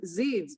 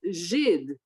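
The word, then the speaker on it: Żyd: used against Jews, because she read it as Zids, but the correct way to pronounce it is Zhid.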